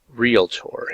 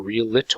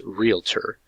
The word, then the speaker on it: realtor: tour or realitor or relator whatever it's realtor so r-e-l-r-e-a-l-t-o-r because i hear it pronounced several different ways but it's actually the correct pronunciation is a realtor and it's spelled just as it sounds so we're going to